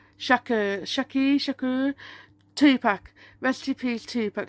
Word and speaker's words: Shakur: How do you pronounce his name? What's his name? Shakur.